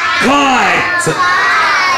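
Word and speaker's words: kite: طيب لو انا شلت الاي هنا هنقول ايه؟ كيت. لكن لو حطيت الماجيك ايه؟ كايت.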